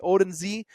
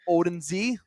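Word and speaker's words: Odunze: So I Odenze. I'm not good at pronouncing that last name. You did it better than me. Rome Odenze.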